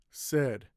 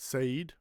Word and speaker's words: said: Many said, any hello. Now I put these words because they have a but the sound is still e. Okay. Many, not mani. Said, not say or say.